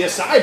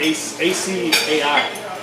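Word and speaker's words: açaí: It's got an A-C-A-I. I think there's a little thing on the C.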